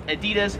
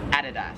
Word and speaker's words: Adidas: Is the apparel company in America, we would pronounce this as Adidas. However, here in Australia, it is Adidas. One thing. That's how the Germans pronounce it, right? Because that's a German company, Adidas.